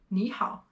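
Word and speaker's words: 你好: So when I'm actually saying 你好, I'm actually changing this one to a second tone here. 你好, 你好.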